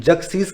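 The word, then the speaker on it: Xerxes: ठीक है फ्रेंड्स, इसको प्रोनाउंस कैसे करते हैं, जगसीज के नाम से इसको प्रोनाउंस करते हैं।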